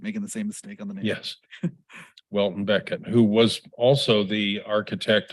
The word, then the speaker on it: Welton Becket: the same uh mispronunciation Walton Beckett not William Beckett but I keep making the same mistake yes Welton Beckett who was also the